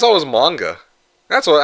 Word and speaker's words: manga: H Are you just here to to to criticize every uh mispronunciation? If you guys keep Okay, manga. Okay, it's manga, isn't it?